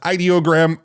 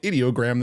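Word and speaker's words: Ideogram: Side note, I just learned this week from Tim over at Theoretically Media that it's actually pronounced ideoggram. I've been calling it idoggram this whole time, but now I know it's ideog.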